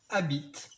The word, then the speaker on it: habite: retenir aujourd'hui c'est il habite donc attention il y as hb ici même s'il ne se prononce jamais le h est bien ici 1 il habite h